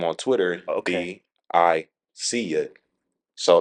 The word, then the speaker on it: Biseeya: Yeah, so it's actually pronounced Biseeya. Okay. Some people say Biseeya.